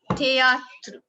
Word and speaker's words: théâtre: Then, after that, we have the last E in a word is not pronounced. Like théâtre, difficile, M. We do not pronounce letter E in that.